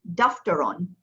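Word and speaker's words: دفترٌ: Next, daftaron.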